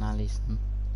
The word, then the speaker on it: Alisson: Go on, Alisson.